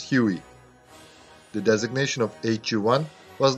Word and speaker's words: Huey: They read the number 1 as the letter I and pronounced as Huey.